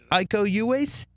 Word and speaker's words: Iko Uwais: Iko Uwais.